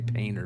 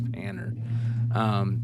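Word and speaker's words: Panter: And I always say Painter, but it's Panner. The Screamers Punk Flyer original, the original. So this is, if you guys know who Gary Panner is, he's the guy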